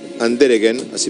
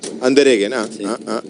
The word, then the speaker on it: Andereggen: Y Andereggen, así me dice que se pronuncia el apellido. Andereggen, sí.